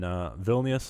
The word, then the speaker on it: Vilnius: And in Vilnius, Lithuania. How do you pronounce Vilnius? Vilnius? Vilnius. If you Vilnius. pronounce it in English, you say it Vilnius probably, Vilnius? but in Lithuanian you say Vilnius.